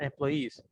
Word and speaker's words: employees: To be suited to a job and get along with other employees. Attention with the pronunciation.